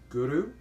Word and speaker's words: Guru: And when you chant or you pronounce Guru, try to pronounce it with hitting the tongue behind the front teeth at the roof of the mouth when you pronounce the R, and you roll the R a bit.